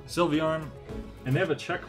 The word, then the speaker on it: Sylveon: that wow hello mw sylvian how do you pronounce it sylveon sylveon and they have a check mark because i